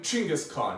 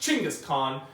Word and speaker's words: Chinggis Khaan: been biggest tongue but I recently heard that it's actually pronounced Chinggis Khaan so choucas Khan Genghis